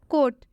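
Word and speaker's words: coat: कोट, कोट में भी आप देख सकते हैं ओ के बाद से ए आया हुआ है, इसलिए इस ओ का उच्चारण ओ से हो जाएगा।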